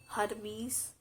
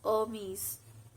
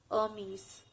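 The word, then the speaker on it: Hermès: um it's not hermes it's hermes h here is silent hermes the next word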